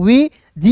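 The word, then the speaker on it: wedge: वीज़ यहां पे D silent कीजिएगा। डब्ल्यू ई है तो वी जी ई का जज।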